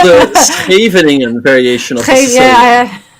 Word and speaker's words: Scheveningen: It's called the Scheveningen variation of the Sicilian. That's one test to find out if somebody is actually Dutch. Make them say Scheveningen. It's a word only Dutch people can pronounce.